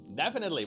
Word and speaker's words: definitely: Okay, definitely. Vamos a practicar otra vez. Definitely. Acento en la primera sílaba.